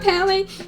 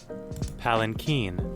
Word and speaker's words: palanquin: It's not Palinkin, it's being carried. It's a pangolin being carried in a Palinkin. I just need to figure out how to pronounce this. How do you pronounce it? Palanquin.